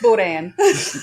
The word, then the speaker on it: boudin: It's boudin.